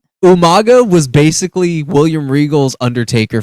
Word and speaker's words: Umaga: my favorite things is the way that William Regal pronounced umanga umanga his mispronunciation like Umaga was basically William Regal's